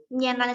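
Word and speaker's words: 棉兰: Nah, kalau dipingin, Mianlan itu M-I-A-N-L-A-N. Mianlan. Ini cara bacanya.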